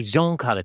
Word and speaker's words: Jean Carlo: So, my name is Jean Carlo. Oh, right. Okay. Jean Carlo. Cool. It's a French pronunciation.